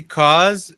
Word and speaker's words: cause: can cause problems later isso lembra que esse cause é o mesmo é a mesma pronúncia do final de because né causeuse iny in